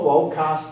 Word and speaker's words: vocas: Notice I'm pronouncing the V as a W. That's how we pronounce it in classical Latin. Voco, vocas, vocat, vocamus, vocatis, vocant.